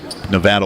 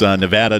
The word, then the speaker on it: Nevada: game notes of the Nevada Wolfpack, and they've actually got pronunciation guide of their school in the pronunciation guide, and it's Nevada, not Nevada.